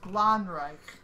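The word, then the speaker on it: Glanzreich: Okay, so it's pronounced Hein Wittgenstein, and it's Gleinreich. Gleinreich.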